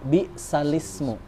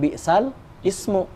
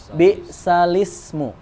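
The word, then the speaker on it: بِئْسَ الِاسْمُ: Bismillahirrohmanirrohim alismu gitu kan jadi ini juga sama alismu tapi karena di depannya ada sin lagi jadi pelafalannya menjadi by salisme enggak jadi bukan bisa al-ismu tapi B salisme Itu namanya nakal dan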